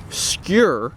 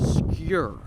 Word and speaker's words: Skur: have the 2022 skier skewer is spelled s-k-u-r so you think right wrong it's actually secure like your but with a SK so obscure so anyways the secure